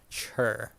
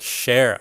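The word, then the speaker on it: Cher: Sri Lanka's chair chur you know Californians pronounce well Wool Wool I'm gonna you know do this sure like share oh share I can pop ion share okay today I learned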